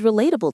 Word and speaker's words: relatable: It has four syllables. Reatable. Relatable. The stress is on the second syllable.